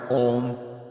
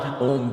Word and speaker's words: Om: into its component parts, Om, which we know, A-U-M, or sometimes spelled O-M, is the sound of